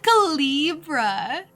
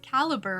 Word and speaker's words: caliber: the right calibra calibra he said calra the right type and the right calibra that's so fancy that's not how you say it caliber right the lieutenant nods